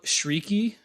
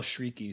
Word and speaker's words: Chriqui: Probably the biggest other name here is Emmanuel Shrieky, and that is spelled Emmanuel is the first name, and Chiriqui, Chriqui. But I looked it up, and it's pronounced Emmanuel Shrieky, so I'm going to go with that.